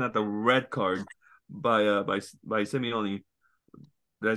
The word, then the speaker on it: Simeone: I was laughing at the red card by Simeone.